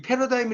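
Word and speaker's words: paradigm: 영어로 서버 즉 해도 이 패러다임 이라는 게 생각의 틀이 라고 하다 같죠 이때는 지가 묵음 입니다 그러한 생각의 틀을 깬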